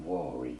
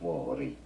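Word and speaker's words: Vuori: Vori, Vori, Vori. Italian, Vori. Vori, Vori, Vori. How do you pronounce the name Okay, so there you go.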